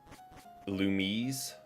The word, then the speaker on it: Illumise: Illumise is how I would say that. What's the other, like... What? Trying to think of what the other pronunciation... Illumise? Also, fair.